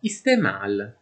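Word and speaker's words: استعمال: Ebbene quando la 3ayn segue una i breve in urdu la i breve viene pronunciata e, e la 3ain ignorata totalmente e quindi uso o utilizzo lo pronunceremo istemâl.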